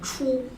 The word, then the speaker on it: 出: 네, 요건 추 발음이에요.